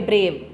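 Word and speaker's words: brave: ब्रेव, अगर आप इसके रिटन फॉर्म में जाओ तो आपको 2 वोवल दिखाई दे रहे हैं, ए और ई। पर अगर आप इसको सुनोगे ब्रेव तो कंप्लीटली ई साइलेंट है, आपको सिर्फ एक ही वोवल सुनाई दे रहा है, तो ये 1 सिलेबल वर्ड है।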